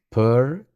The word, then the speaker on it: pursue: Pursue. La U se alarga. No decimos pursuit o pursuit, sino que la primera es una vocal un poco neutra, p, y después se acompaña de una S que es relajada y prolongada.